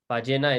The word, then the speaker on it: ballena: So this double L in the middle can be pronounced as a j, or it could be pronounced as a y. It just sort of depends on the person. Everybody has a slightly different way of saying it. As a fun little side fact, some people even pronounce it as sh in certain countries.